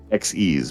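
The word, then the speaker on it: Xyz: Uh try like try like the word exceed like exceeding expectations. Xes monsters.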